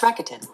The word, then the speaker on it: Rakuten: Somebody's going to hook How do me you up with pronounce that. Isn't it Rakuten? It's Rakuten.